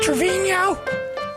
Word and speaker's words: Trevino: how you say it trevino yes yeah that's the spanish pronunciation steve and i are